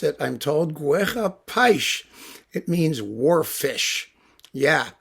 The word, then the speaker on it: Guerra-Peixe: brazilian music series it's this thing by cesar guerra paich that's how you pronounce it i'm told guerra paich it means war fish yeah that's his name